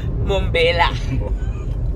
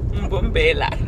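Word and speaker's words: Mbombela: Mumbela. Mbumbela.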